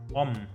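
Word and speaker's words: ą: block this path here you can pronounce this uh a with the hook as om interesting I didn't think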